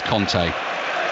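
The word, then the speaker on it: Kanté: get messages about this and go low Conclave pronounces his own name as Conte I do this Vega in the middle of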